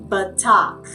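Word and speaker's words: בטח: going to focus on today is the word batak. Batak. All right? It is spelled with a bait, a tet, and a chet.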